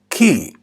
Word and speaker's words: chi: you could hear Italian speakers saying another word key instead of chi and this is also a